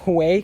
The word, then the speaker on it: jueves: Then there is Jueves, which obviously in Spanish is Thursday, but it's pronounced Hue because J is pronounced with a like H in Spanish, but pretty much J-U, think about that, Jupiter.